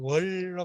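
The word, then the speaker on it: 粵: 이거는 그 글자가 좀 이렇게, 이렇게 써가지고 월로 발음해요. 월.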